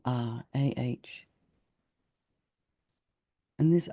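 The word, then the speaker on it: Ah: So now just keep meditating and imagine on your tongue is syllable R, A-H.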